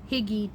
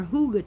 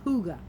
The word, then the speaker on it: hygge: this game so here we go red heart higgy charm or hygge charm i should say it's called it's pronounced hygge anyhow it is a sparkle it is not